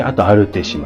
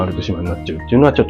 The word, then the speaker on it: アルティッシマ: そして、アルティッシマも。私はいつも「アルテ島」と間違って発音してしまうので、直さなければならないのですが、これは必須なので含めました。